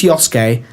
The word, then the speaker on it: Yosuke: I think it's Yosuke because the wrestler Shinsuke Nakamura is spelled S-U-K-E and it's Ske, not Suki.